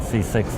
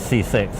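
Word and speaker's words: CCIX: C6 is cache coherent interconnect for accelerators, spelt with a slightly strange way, because accelerators doesn't begin with an X, but that way you can pronounce it C6, which is the way everybody likes to pronounce it.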